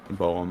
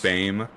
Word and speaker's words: Boehm: but it's not like it's not pronounced bow. I actually I named my little my little game studio after it. It's it's Nathan Games. It plays off of the pronunciation of Bame, but it's spelled G O E H M S.